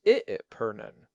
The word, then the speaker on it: epergne: You also have to consider the epergne, that is spelled E-P-E-R-G-N-E, but pronounced I-pernen.